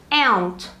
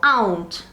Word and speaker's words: aunt: E para tia, nós temos essa denominação aqui, aunt ou aunt, dependendo da pronúncia aí da pessoa. Americanos costumam falar mais aunt e britânicos costumam falar mais aunt, mais fechadinho.